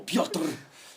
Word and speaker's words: Pyotr: That's one syllable, Pyotr.